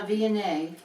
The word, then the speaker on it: Viognier: Yeah, no, Viognier.